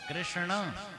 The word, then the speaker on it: कृष्ण: नहीं बोल पाओगे कृष्ण, टेढ़ा करना पड़ता है ना, कृष्ण नाक से उच्चारण। हमारे व्याकरण में यम गणना नाम नासिका च, इन शब्दों का उच्चारण नासिका से होना चाहिए। तो कृष्ण कृष्ण ऐसा होगा, नाम भी टेढ़ा।